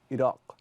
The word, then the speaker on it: Iraq: The Dothraki Q is like the Q in Arabic. So, you know, the country Iraq. In Arabic, it would be properly Iraq. And that Q, kind of guttural.